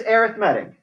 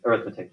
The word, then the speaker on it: arithmetic: Wouldn't people call this arithmetic? Like some people call this arithmetic. Yeah, it's spelled the same way. Arithmetic.